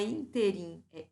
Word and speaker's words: ínterim: chamado a atenção que a pronúncia é uma pronúncia de proparoxítona não é ínterim inter a conforme está